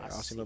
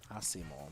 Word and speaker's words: Asimo: Ashimo Bluecat is who we're about to see right now.